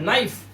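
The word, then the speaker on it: knife: ऐसे ही चाकू जिससे आप अपनी सब्जियां काटते हो, फल काटते हो। एन से पहले आया के साइलेंट और इसे पढ़ते हैं नाइफ।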